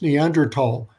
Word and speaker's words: Neanderthal: spell it it's pronounced neanderthal uh no th sound in english uh that's because in